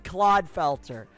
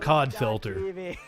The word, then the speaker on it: Clodfelter: / Clodfelter. Oh, I've been saying it wrong all this time. I've been calling him Codfelter.